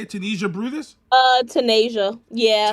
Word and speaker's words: Tanaijsa: I'm going to say Tanaijsa. Is that how you say it? Tanaijsa Brutus? Tanaijsa. Yeah. Tanaijsa yeah.